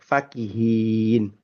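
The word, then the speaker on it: فاكهين: Tajwidnya Imam Haf itu menyatakan bahwa ayat 31 surah Mutfifin itu pendek. Faqihin. Huruf fa-nya pendek ya.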